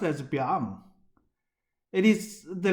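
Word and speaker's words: 𰻞: Here I'm presenting to you the most complicated Chinese character, pronounced as Biang.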